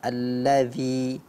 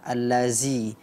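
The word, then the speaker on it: الذي: banyak belajar lagi ya pelafalan huruf dzal pada alladzi alladzi dibaca aladzi ya ini tentu gurunya perlu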